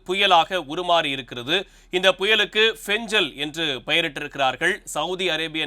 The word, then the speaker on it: Fengal: எல் என்று அழைக்கப்படக்கூடிய அந்த எழுத்தை அவர்கள் உச்சரிக்கும் போது பெஞ்சல் என்று உச்சரிக்கிறார்கள் இந்த புயலினுடைய தாக்கம் தமிழ்நாட்டிற்கு எப்படி இருக்கப்போகிறது குறிப்பாக